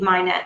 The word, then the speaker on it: MHIKNET: and knowledge network um the k is silent so ch and we